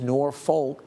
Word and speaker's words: Norfolk: North Platte through Kearney and back over towards Norfolk. That's how they pronounce it there.